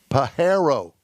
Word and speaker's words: Pajero: vehicles you realize that you're pronouncing the name wrong here it's called a mitsubishi pajero right right so i'm